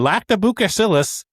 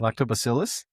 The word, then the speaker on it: Lactobacillus: In punchion barrels with cultural influences and lactobukasillus and breathing. That's not what I know, but I don't know how to say any of that. Lactobacillus. Lactobacillus.